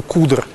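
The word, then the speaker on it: cdr: в хостеле называлась tail произносится именно куда не могу сказать почему именно так произносится но вот такая традиция есть и konce это хостелов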